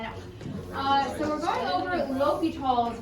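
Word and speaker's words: L'Hôpital: So we're going over L'Hopital's rule that can be pronounced a bunch of different ways. L'Hopital is how I was told to pronounce it. And that's how the guy who does the videos with your notes, that's how he pronounces it.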